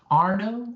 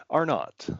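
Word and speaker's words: Arnott: Chris Arno are not and very good. Thanks. You pronounce it both ways. Everyone does. Okay. Which which do you prefer? Are not.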